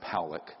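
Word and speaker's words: Pawelec: This man, William Powlick, his name is pronounced Powlick, was a man, very good man, who gave me an interview only to be released posthumously after he died.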